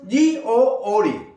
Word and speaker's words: good: Hi friends, how do you pronounce G-O-O-D or G-double-O-D? It is good, good, very good. Whereas F-O-O-D, F-double-O-D, it is not food but a food. The difference is that in good it is short pronunciation, whereas in food it is strong pronunciation.